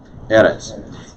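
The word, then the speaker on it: ארץ: think that's important errants notice the accent is above the olive in eric's right that's why the accent is on the first syllable eres isha this is the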